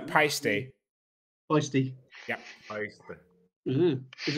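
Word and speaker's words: Paiste: I remember going to their booth in the London Drum Show in like 2012, and they were very adamant about it being pasty.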